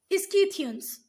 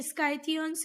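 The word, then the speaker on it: Scythians: ठीक है, स्काइथियन बोल लो, कहीं पर आपको दिखेगा ये स्काइथियंस, इसका प्रोनाउंसिएशन, कहीं पर इसका प्रोनाउंसिएशन स्कीथियंस है। ठीक है, तो जो भी आपकी मैम बोले आप उसके साथ जा सकते हो, शाक और स्काइथियंस।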